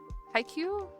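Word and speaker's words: Haikyu: IQ. IQ. Mhm. Is that how you pronounce it? Okay, it's uh hi and then Q.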